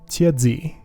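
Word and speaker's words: 茄子: Tiazi. Say it right, and it kind of sounds like cheese, maybe.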